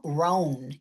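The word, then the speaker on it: Rohn: Jim Ran. If you're not familiar with Jim Ran's work, and ran is spelled R O H N.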